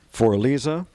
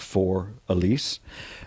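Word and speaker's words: Für Elise: Here, the last slope that was cut during my ownership, named after my daughter, For Elisa. That's the German pronunciation of For Elise, and also the title to one of Ludwig von Beethoven's great symphonies.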